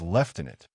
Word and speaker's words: lieutenant: One of the Americans pronounced lieutenant as left in it, British style.